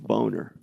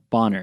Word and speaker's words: Boner: So thanks old Ralph Boner. Ralph Boner. Wow, you had his exact response. Ralph Boner. Bonner. It's pronounced Bonner.